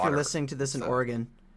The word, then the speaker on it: Oregon: Sorry if you're listening to this in Oregon. Yeah, I think I I really hope I'm pronouncing it right because I said I said Oregon and someone like corrected me and they're like it's Oregon and I was